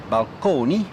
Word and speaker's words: balcony: to describe them so balcony still pronounced at that time in the Italian manner balcone as well as Fresco